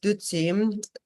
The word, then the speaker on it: dutsi: So this term nectar in Tibetan, it is dutsi, 2 syllables, du and tsi, and du means like Mara or demon, and tsi means like nectar or elixir.